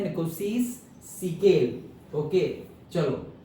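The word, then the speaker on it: Nkosi: निकोसी सीकेल, एन थोड़ा silent है।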